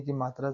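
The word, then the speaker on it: comb: Rule number 3 देखते हैं, यदि शब्द के अंत में एम बी है तब बी साइलेंट होता है। यहाँ पर एम बी आया है। कॉम, कॉम्ब नहीं पढ़ रहे हैं।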